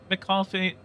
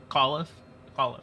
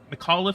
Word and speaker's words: McAuliffe: Everyone was just kind of like, oh yeah, McCoffee is, I think it's McCoffee.